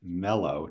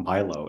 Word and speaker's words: Mello: You already helped me realize it's pronounced Mello, not Milo, as I said.